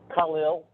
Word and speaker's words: Khalil: Khalil, like Khalil Gibran.